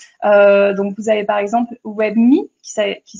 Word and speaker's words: WebMii: Donc, vous avez par exemple WebMe, qui s'écrit WEBMII.